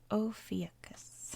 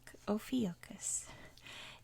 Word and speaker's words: Ophiuchus: Ophiuchus. I think that's how you pronounce it.